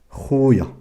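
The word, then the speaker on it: خويا: Mon frère, khoya. Khoya. Khoya. Le KH, je la prononce kha.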